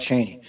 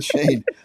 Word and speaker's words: Chene: M Cafe in Ferndale chane don't don't mix me up with Cheney I'm sorry Shan I'm sorry so this is Shane I'm sorry I mispronounce